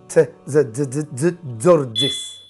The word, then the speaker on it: Tzortzis: Well, if you bring the T and the Z together, T and the Z together, yeah, very fast. So it's Tzortzis.